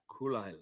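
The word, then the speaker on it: Caol Ila: Kulila. Oh, Kulila. Kulila. Lagavulin. Oh, I know how to pronounce that.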